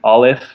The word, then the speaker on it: Aleph: I pronounce it Aleph, and that's kind of what we've always said. And I think Aleph, like really an I, is proper.